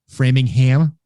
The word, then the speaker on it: Framingham: If it's a 2-syllable town that ends in HAM, it's an. If it's more than 2 syllables, it's a ham. Interesting. Okay. Yep. So Dedham, Rainham, Framingham, Needham.